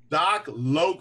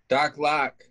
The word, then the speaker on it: Doc Loc: like you were saying how do people like to pronounce it DOC lock L it it it Rhymes so they just kind of immediately go for that's how I would saying I was like oh doc lock what they almost they